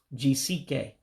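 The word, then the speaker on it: jisie ike: You drop that first E. And so that's why it becomes Jisike, you have done well.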